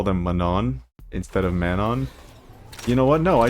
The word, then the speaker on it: Manon: I don't know why I call them mananon instead of manon. You know what? No, I do. It's really unnatural to say manon. It's like you're saying like man on hill, man on mountain.